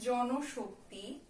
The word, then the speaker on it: জনশক্তি: তারপরে আছে জনশক্তি, এই নয়ের সঙ্গে একটা কি আছে? নয়ের সঙ্গে কিন্তু একটা আমাদের ও যোগ করা আছে, স্বরেও যোগ করা আছে, তাই এটার যে উচ্চারণ হবে জন শক্তি।